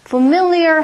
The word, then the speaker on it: familiar: 제가 교정을 좀 해드릴까요 fam fam 아니라 어 는 강세가 음절이 있기 때문에 familiar 하고 발음 하셔야 돼요 자 familiar 의미는 일단